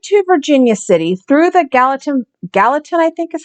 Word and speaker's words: Gallatin: And it led the miners right to Virginia City through the Gallatin, I think is how it's pronounced, Valley.